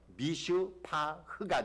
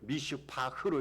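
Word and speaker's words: מִשְׂפָּח: 그리고 포악은요, 미슈파흐가 됩니다. 우리가 지금 한국말로 읽고 있잖아요. 근데 이스라엘 백성들이 히브리어로 읽을 때 어떤 경우에는 미슈파트로 읽었어요. 이거 정의입니다. 그리고 이 포악이라는 단어를 미슈파흐로 읽었어요. 여러분 두 단어가 발음은 비슷해요. 근데 의미는요 180도 달라요.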